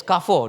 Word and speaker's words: Carrefour: Yes, Carrefour, no more already, right? But she still, no, actually, you know what? I'm wrong. It's supposed to be the French pronunciation, which is Carrefour, right?